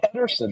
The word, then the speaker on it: Pedersen: It's Pedersen. There's no T in it.